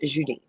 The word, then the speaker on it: Julie: um Julie, but my French in in French it's pronounced Judi.